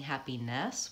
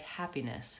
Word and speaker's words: happiness: not and hot mantra happiness careless the less and the nests are happiness this it's a what an example of the reduce vowel that I'm gonna be talking about where I'm not really saying happiness with an F vowel like an e I'm saying it more like happiness it's more of a